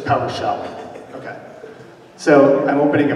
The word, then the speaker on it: PowerShell: So do you have to say shell twice? So PowerShell shell, is that how you say it? I'm opening a PowerShell shell? No, it's just PowerShell, okay.